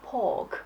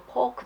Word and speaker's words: pork: 또 많이들 헷갈리는 게 이제 밥 먹을 때 먹는 fork 그거는 F 발음이 들어가고 그다음에 돼지고기 할 때는 pork 해죠. P가 들어가죠. 근데 가끔 보면 fork 달라 그럴 때 pork 달라 그래 갖고 사람들이 이제 헷갈리죠.